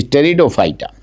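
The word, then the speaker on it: Pteridophyta: इज the last इ टेरिडोफाइटा टेडो की spelling P से देखिएगा ठीक से टेडो फाइटा अब इन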